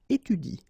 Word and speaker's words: étudie: to pronounce it correctly, you should pronounce it like il étudie. Okay? So the last thing that you will pronounce will be the vowel I here. Okay? Il étudie. You don't pronounce this here.